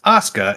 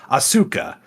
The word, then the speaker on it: Asuka: Yeah, because one of the things they do in Japanese, the letter or the vowel U is often weakly pronounced. That's why it's Sasuke, not Sasuke. That's why it's Asuka and not Asuka.